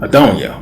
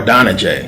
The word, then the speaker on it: Adonijah: And he has a son, Adoniah, or Adonijah, however you want to pronounce it, who's basically trying to capture the moment and steal the throne for himself away from Solomon.